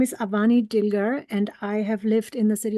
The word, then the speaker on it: Avani Dilger: Next on our list is Avani Dilger, and I do apologize if I mispronounced.